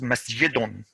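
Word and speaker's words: مسجدٌ: The tanween is to be pronounced, not written. So this is masjidun, masjidun. You don't write it masjidun and put the noon. No, it's called tanween because it sounds like a noon, but it's not an actual noon.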